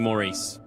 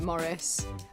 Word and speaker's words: Maurice: You pronounce Maurice like this. You do not pronounce it Maurice.